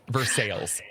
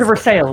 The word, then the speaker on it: Versailles: My favorite pronunciation is Versailles, Kentucky. Versailles. Oh, it's Versailles.